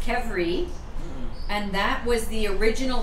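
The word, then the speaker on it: qvevri: the first letter q i would never have pronounced it that way but it's pronounced kevri and that was the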